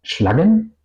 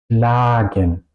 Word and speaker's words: schlagen: Yo no pronuncio schlagen, yo pronuncio schlagen. La A suena larga.